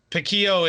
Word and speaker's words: piquillo: are spelled differently um so piquillo most artists so it's um pikiyo it's uh those were